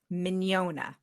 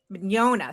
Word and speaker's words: Mignogna: I say if they're familiar with filet mignon, but I've been noticing that people don't always pronounce filet mignon the way I pronounce filet mignon. yeah. Did you say? Did you say "ya" at the end, like an IA or a YA? Like an not really a Y, just Okay, mañana. Mignogna.